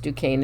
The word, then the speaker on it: Duquesne: just the year before operation pastorius the duquesne pronounced duquesne it's spelled d-u-q-u-e-s-n-e i had to look it up but it's duquesne the duquesne network of german espionage agents were